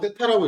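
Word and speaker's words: θ: 여기에 x의 증가량분의 y의 증가량이라고 했을 때 여기를 각도 요거 세타라고 읽어요.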